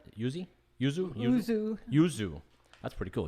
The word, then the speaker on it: yuzu: How do you pronounce it? Yuzu. That's pretty cool. Yuzu citrus fruit jellies.